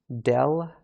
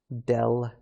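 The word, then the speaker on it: ∂: this is i say del f del x so this curvy sort of d shape we pronounce that as del alright and this is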